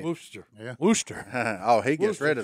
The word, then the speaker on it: Worcester: don't i think he's that right booster yeah wooster oh he gets rid of the shire he